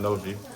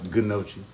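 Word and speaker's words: gnocchi: But and it is pronounced nochi. From the hood, we call it gnosi, ganosi, or however you want to pronounce it.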